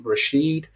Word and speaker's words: Rasheed: go on betterhelp and type in my name rasheed it's spelled r-a-s-h-e-e-d and then my last name or